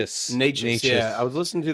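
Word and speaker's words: Nečas: Necas.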